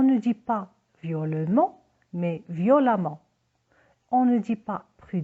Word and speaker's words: violemment: violent et un amant attention on double m et le e se prononce à on ne dit pas hurlements mais violemment on ne dit pas